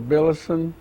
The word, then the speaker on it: Billison: give me your name so we'll have it pronounced correctly you just tell me your name I'm billison b-i-l-l-i-s-o-n I was born uh sometimes and uh